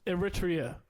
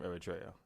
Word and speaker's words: Eritrea: Shout out to Sim Joy from West Eritrea.